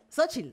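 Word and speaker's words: Xóchitl: Ella es actriz, es comediante, es guionista y tiene uno de los nombres más difíciles de pronunciar de seguidito. Ella es Xochitl Sánchez Santos.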